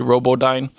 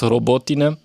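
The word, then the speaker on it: Robotyne: I like to say Robodine, but it's Robotina.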